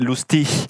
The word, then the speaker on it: Lustig: Et donc en allemand ça se dirait Lustig.